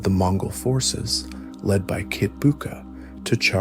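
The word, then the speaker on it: Kitbuqa: under the command of his trusted general Kitbuka, pronounced Kitbuka, to maintain the occupation and hold the newly conquered territory.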